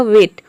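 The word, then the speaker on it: weight: वह साइलेंट रहता है यानी कि जीएच को हम प्रोनाउंस नहीं करते हैं केवल टी को प्रोनाउंस करते हैं या फिर आप यह समझे कि जी एच टी इन तीनों को मिलाकर हम ट प्रोनाउंस करते हैं तब इसका प्रोनंसिएशन हो जाएगा वेट वेट मतलब होता है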